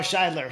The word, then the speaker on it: Shidler: Shidler.